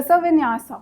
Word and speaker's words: Vinyasa: Now, you have mentioned as one of your extracurricular activities, what is Vinyas yoga? Yes, sir. What is it? How is it pronounced? So Vinyasa.